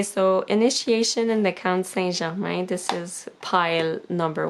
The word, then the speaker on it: Saint-Germain: So for pile 1, we have initiation in the Count Saint-Germain, Saint-Germain in English, but in French it's Saint-Germain.